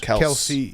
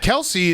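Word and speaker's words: Kelce: first one is the kells brothers yeah kels kels brothers lc's kels brothers kelsey kells kels kells's apparently everyone has been calling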